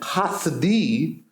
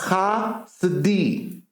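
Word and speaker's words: Chasidi: And Hasidi, because the K is the Chet. Yes. Hasidi. SD doesn't have a vowel. Yes. It's just Hasidi. The S and the D are together. Hasidi.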